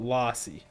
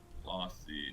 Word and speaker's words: Lossy: It's like Lassie, but Lossy. You nailed it. Lossy.